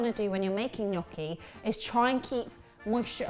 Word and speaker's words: gnocchi: Oh, it's a happy day because we're making one of my favourite foods, gnocchi. Gnocchi with a silent G.